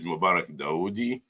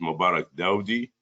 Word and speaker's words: Mubarak Daudi: talk about risk normalization my name is Mubarak daudi uh some people they pronounce it Mubarak Dowdy uh some pronounce it Mubarak dawoodi so you're free as long as you can call me Mubarak that's that will be enough uh foreign let's go